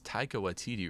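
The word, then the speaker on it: Taika Waititi: the snapping uh how do you say it's taika watidi right yeah yeah first maori in a indigenous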